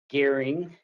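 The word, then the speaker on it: Goering: for the record my name is gearing and the last name is spelled g-o-e-r-i-n-g mr gearing could you please briefly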